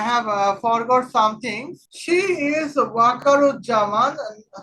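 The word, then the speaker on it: Waker-uz-Zaman: Now here well uh let's find out who is Akarjaman. Oh I have forgot something. She is Wakaru Jaman. I have I miss mispelling I mean misp pronouncing that is Wakaru Jaman the Bangladesh army general.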